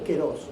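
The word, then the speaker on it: καιρός: se escribe kairos y se dice keros en griego.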